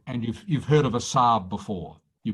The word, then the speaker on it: Saab: done all right and you've heard of a sab before you pronounced it correctly you heard of a sar